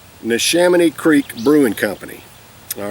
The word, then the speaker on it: Neshaminy: of in cursive there and i call it nashemy it's what i call it but it's actually nishamani neshamini creek brewing company all right um it's in